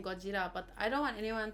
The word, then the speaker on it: Gojira: And I really love saying Gojira, but I don't want anyone to like be mad or offended.